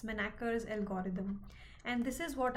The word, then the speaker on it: Manacher's: I hope I'm pronouncing it right. It is m a n a c h e r s. Manaker's algorithm.